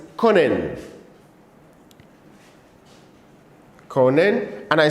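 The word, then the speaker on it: können: in our system the first one is conen Con and I said Con simply means to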